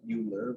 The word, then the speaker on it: Euler: a swiss german guy that's just how they pronounce the eu sound over there like they call it boy rope great math joke by